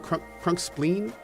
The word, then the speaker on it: Crunkspline: Although, did I pronounce that incorrectly? Is it Crunkspleen? I think we corrected this at one point, but it's been a while. Okay. It is spleen. Okay, cool.